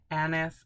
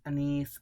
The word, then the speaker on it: anise: Black currants, absinthe, blackberries, anise, anise, I've heard it pronounced both ways, and amber.